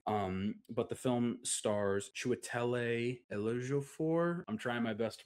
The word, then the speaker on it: Chiwetel Ejiofor: Um but the film stars Chiwetel Ejiofor. I'm trying my best to pronounce that, so I'm going to have Google pronounce it the proper way for you. Chiwetel Ejiofor.